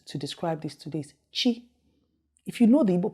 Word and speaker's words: chi: c the next one after b is it's pronounced like that and the word i will use to describe this to this chi if you know the ibu people most of